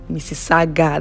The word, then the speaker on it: Mississauga: Mississauga, that's the name. Before I learned how to pronounce this this city, it was I used to just say anything I like.